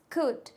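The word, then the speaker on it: could: क्या होता है कुड कुड की स्पेलिंग क्या होती है सी ओ यू एल डी एच कुड इसको पढ़ेंगे क्या कुड नो इट्स रंग इसको कल्ड नहीं पढ़ेंगे इसको कुड पढ़ेंगे तो दोस्तों दूसरा भी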